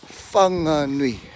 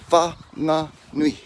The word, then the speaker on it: Whanganui: Okay, so Wanganui, Wanganui. I just pronounced the G in it. Don't do that. Wanganui, Wanganui, Whanganui, Whanganui, Whanganui, Whanganui.